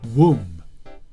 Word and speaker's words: womb: careful that word is womb w-o-n-b the last letter b is silent which means you don't pronounce that letter so it's not it's